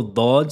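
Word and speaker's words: ض: Concernant sa prononciation, la lettre bod se prononce avec le côté gauche de la langue et doit toucher et appuyer fortement sur les molaires et les prémolaires supérieurs.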